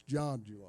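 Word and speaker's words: Zhang: again too long but it is spelled z-h-a-n-g I'm like him I thought it would be Zayn but it's John he's John okay well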